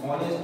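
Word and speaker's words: honest: হয়ে যাচ্ছে, তাই আমরা বসাবো an hour, N অনেস্ট ম্যান, এইচ ও এন ই এস টি অনেস্ট ম্যান, N year H ই আই R, hair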